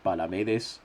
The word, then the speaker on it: Palamedes: We still have not gotten an authoritative ruling on whether it's Palamedes or Palamedes, but we're fairly sure it's Palamedes because Palamedes would have an accent on the second A.